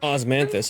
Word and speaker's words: osmanthus: Osmanthus, that's how you pronounce it.